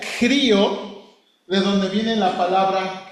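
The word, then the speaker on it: χρίω: El verbo, hermano, se pronuncia crío, de donde viene la palabra cristos.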